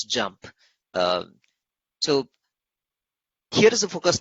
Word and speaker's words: JMP: the key capabilities of JMP, just pronounced as JUMP.